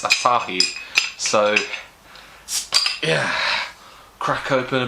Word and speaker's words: Asahi: a bottle of beer asahi as i now know it's called i've been pronouncing it asahi all this time being a complete idiot but it's asahi so yeah crack open